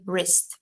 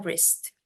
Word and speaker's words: wrist: Oke on my wrist ini w-nya baca wrist bacanya w-nya dihilangin terus bacanya wrist berarti a or b